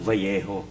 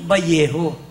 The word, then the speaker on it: Vallejo: Sabi niya porky careful Bakit kasi dito sa Vallejo pag double l ang pronunciation niyan vjo Oo bakit valo kasi double l eh that's why O